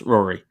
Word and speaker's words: Rory: Sorry, is it Rory or Rory? Rory. Well, Rory is the Irish pronunciation of it, but I nearly changed it as a teenager to the Irish spelling, but I kept it as the English spelling for it. So it's Rory.